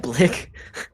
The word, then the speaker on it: Blick: get some answers from black am i pronouncing that correctly now like imagine like a bic pen but then put an l in there is he long gone no